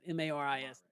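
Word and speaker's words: Marist: M A R I S.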